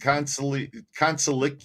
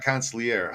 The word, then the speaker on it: consigliere: I think consigliere. It's not consigliere. How do you say that word? Somebody put it in the pronunciation.